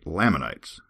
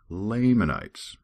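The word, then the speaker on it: Lamanites: And another one, I seem to be able to pronounce layman correctly, but then I say laminites. And uh apparently I'm driving some people crazy with that. So officially from now on it is Lammonites.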